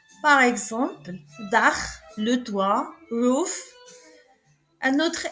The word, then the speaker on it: Dach: CH, on le prononce Kha, après le A, le OU, le AU et le A. Par exemple, Dach, le toit, roof.